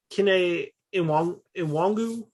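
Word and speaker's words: Kene Nwangwu: But like we saw Cam Akers, and to I want to say smaller scale, but Kene Iwangu, is that how we pronounce it?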